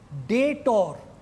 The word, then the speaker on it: debtor: লেনদেনের যে পক্ষ গ্রহণ করে বা যাহা গ্রহণ করে তাকে বলা হয় ডেটর, DEBTOR। এখানে বি এর উচ্চারণটা কিন্তু হয় না, অনেকে উচ্চারণ করবে না।